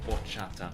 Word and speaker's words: horchata: Sorry, horchata. I should pronounce it correctly for you Spanish speakers.